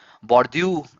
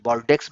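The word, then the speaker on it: Bordeaux: बॉर्ड्यू एक बॉर्ड्यू जो है एक फ्रेंच वर्ड है, BORDAU, बॉर्डेक्स भी बोलेंगे इसको, बॉर्ड्यू करके प्रोनाउंस करते हैं।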